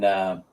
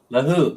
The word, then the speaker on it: Lahug: rented in Cebu, in Lagum. Lagum? How do you say it? Lahug? Lahook? Lahook. It's spelled lahug, like give me a great big hug. Lahug. Lahook, I guess you pronounce it, something like that.